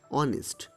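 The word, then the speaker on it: honest: কিন্তু অনেস্ট, অনেস্টের প্রথমে এইচ থাকা সত্ত্বেও উচ্চারণ অয়ের মতো, তাই এই ভাওয়েল সাউন্ড থাকার জন্য অনেস্টের আগে অ্যান বসবে।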